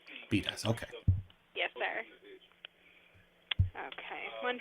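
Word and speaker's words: Bedias: I'm pronouncing that correctly b-e-d-i-a-s that's pronounced bidas beat us okay yes sir okay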